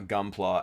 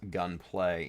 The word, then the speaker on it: Gunpla: never forgive norm uh for pronouncing uh gunpla as gun play yeah yeah yeah that's